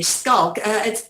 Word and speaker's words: Schalk: Right, Schalk, now that I'm pronouncing it correctly, Schalk, that's a very Afrikaans name, and what a van der Merwe as well.